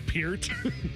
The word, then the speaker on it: Peart: Neil Peart was the drummer of Rush for 40 years. It's Peart.